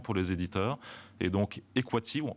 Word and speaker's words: Equativ: Et donc, Equative, en français, on va le prononcer Equative. En américain, on verra si vous y arrivez, mais on va essayer de le prononcer Equative, avec un A long.